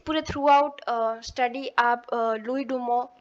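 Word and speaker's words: Louis Dumont: की कोशिश की है लुई डुमो ने। फ्रेंच है इसलिए हम टी नहीं बोल रहे हैं। ठीक है, याद करने के लिए आप डूमोंट ही बोल लीजिएगा क्योंकि स्पेलिंग याद रहनी चाहिए।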